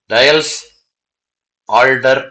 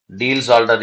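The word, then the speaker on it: Diels-Alder: இதுல ஒரு இன்ட்ரெஸ்டிங்கான ரியாக்ஷன் கொடுத்துருப்பாங்க, டயல்ஸ் ஆல்டர் ரியாக்ஷன் பேரு. டீல்ஸ் ஆல்டர் reaction, டயல்ஸ் ஆல்டர் reaction, எப்படி வேணா ப்ரொனவுன்ஸ் பண்ணிக்கலாம்.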